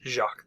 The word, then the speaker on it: Jacques: how it's spelled but he is Jacques the French French Jack rather than the English anyway um he caught